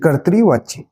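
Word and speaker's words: कर्तृवाच्य: ठीक है, कर्त बोलना है, फिर त्रि, कर्तरीवाच्य।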